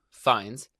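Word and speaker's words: Fiennes: but also because Ralph I don't know how to say his last name terrifies me because of the menu like he's in my nightmares it's it's Rafe fines Ray fiends and apologies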